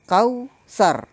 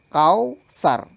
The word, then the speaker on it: Kautsar: berikutnya lafal Al Kautsar pelafalan kau lebih condong ke bunyi huruf u yang itu kau bukan kau yang condong ke bunyi huruf a Hai ingat ya anakku kau Sar bukan kau start Hai ayat kedua Fals